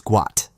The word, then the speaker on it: Gout: myself I know his name is guat that's what his mother calls him and that's what I call him I just want people to get it right and surved first I